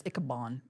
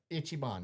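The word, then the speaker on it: Ichiban: I thought it was Kabon. I know you like during the show. How you say it, Chris? Andrew. Didn't you think it was Icaban?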